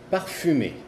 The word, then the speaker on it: parfumé: Y por ejemplo, si es perfumado, es parfumé. Ya ven la diferencia, ahí la tenemos muy clara. Parfumé, parfum, parfumé. Ahí vamos a decir parfumé, vamos a decir la U porque la E sigue de la M.